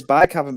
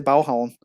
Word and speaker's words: Baghaven: It's actually, everyone says Baghaven, but it's actually Balhavn. That's how the Danes say it, because Danish is just weird.